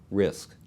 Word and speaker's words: RISC: reduced instruction set computers abbreviated risc and pronounce risk think of complex instruction